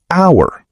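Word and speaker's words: hour: فقط نسمع الصوت مثال كلمه اور تبدا بحرف اتش لكن اتش ما ننطقها والكلمه تبدا بصوت فاول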